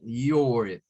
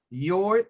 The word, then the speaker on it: your: Y aquí aparece your. Your puede tener dos pronunciaciones. Una con un schwa y otra más como un or.